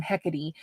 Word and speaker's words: Hecate: she's alluring she's mysterious this is goddess um hecatey which is spelled like he Kate um but the the goddess hecatee is um in mythology